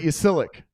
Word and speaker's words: Ysilik: The Y is like an I.